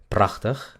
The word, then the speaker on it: prachtig: Se dice prachtig, prachtig. Se dan cuenta que la A es corta, no es prachtig, es prachtig, prachtig.